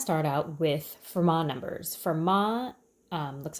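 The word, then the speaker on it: Fermat: I want to start out with Vermont numbers for MA looks like it's format but it's pronounced per ma Pierre de for ma was a French mathematician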